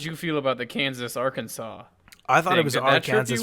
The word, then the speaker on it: Arkansas: like junior high and somebody was like it's arkansas and i was like whoa you know it's funny how everyone pronounces it kansas and our kansas and never arkansas and kansas consol can sauce